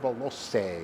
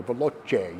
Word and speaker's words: Veloce: a 1992 Alfa Romeo Spider Veloce, or Veloce, you choose the pronunciation.